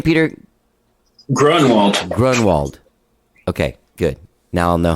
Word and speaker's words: Groenwald: do you say your last name peter grundle grunwald okay good now i'll know how to say